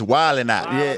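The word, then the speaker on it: Wild 'N Out: say it like that you don't you don't put the pause you don't put the D in it it's wild and not not wild not wild wild and not wild and not forget the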